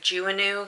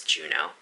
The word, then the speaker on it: Juneau: a fun fact um if you look at it it looks like juvenile because the way it's spelt but it's juno so after that brief